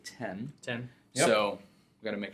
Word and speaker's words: iPhone X: you read it it's it's written as iPhone X but as a lot of Apple products have been over the past years they pronounced it 10/10 so we got to